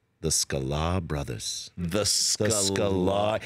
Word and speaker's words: Sklar: And I was like, "We're the Sklar brothers." And he just looks at me, and he's like, "The Sklar brothers." The Sklar. He like added a syllable to my name.